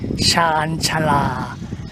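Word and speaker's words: ชานชาลา: Now, the word for platform in Thai is Shan Chala. Shan Chala. Shan Chala. 3 syllables here.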